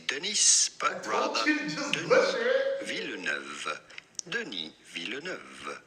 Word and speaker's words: Denis: Do not pronounce the S to Denis, it is silent in French. Do not say Denis, but rather Denis Villeneuve.